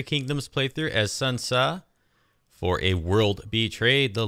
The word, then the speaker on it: Sun Ce: I mean, Sun Tsa, I was corrected on my pronunciation, so I'm going to now try to switch over to Sun Tsa.